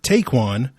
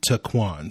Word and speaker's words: Ta'Quon: get your podcast so i've been calling him taekwon but apparently based off of the various pronunciation guides i have been able to find online it is actually taquan so i will try my best to correct